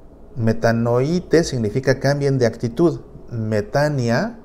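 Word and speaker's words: μετάνοια: El sustantivo es metania, que se pronuncia metania, aunque se escribe metanoia, ¿verdad? Pero se pronuncia metania porque Omicron con Y se pronuncia como I, metania. Pero tal vez has escuchado el término como metanoia.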